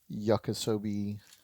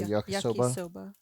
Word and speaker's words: yakisoba: but um I don't know how you actually pronounce the brand. I think bulldog. Bulldog. Bulldog? So yeah, I'm making some yakisobe or yakisoba.